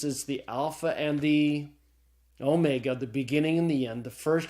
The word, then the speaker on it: omega: the Greek alphabet the Omega looks like a W but it's not it's a long old class file so the Omega is pronounced as a long Oh sound as in the English word tone okay all right well